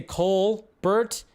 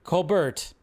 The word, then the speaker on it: Colbert: name wrong it's cuz I say Cole Bert and he goes it's Cole Bert yeah some of these are a little bit too much like Colbert it's Colbert I know it's not